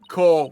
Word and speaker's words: corps: you heard her also it's core woman the PS is silent try it with me